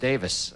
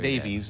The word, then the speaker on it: Davies: ray davies composition pronounced davis that's right we learned that when he was here not Davies Davis although it's spelled Davies spout pronounces Davis early